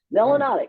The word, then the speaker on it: melanotic: Melanotic, which rhymes with exotic.